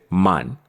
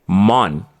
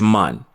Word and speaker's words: man: full speed is that we are saying mon with an O but that is incorrect what we're actually seeing is man so you may be